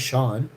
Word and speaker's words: Sean: I'm Hashy, but my name's Sean. Rhymes with John.